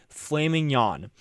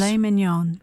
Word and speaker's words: filet mignon: flaming yawn, as according to the UK pronunciation, or in the US, Filet mignon.